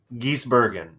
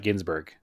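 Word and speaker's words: Gisbergen: p and we didn't Shane Van geese Bergen geese Bergen not Ginsburg correct Gees Bergen okay Shane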